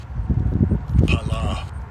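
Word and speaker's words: פלא: And I'll give you a pronunciation of this word. Pala.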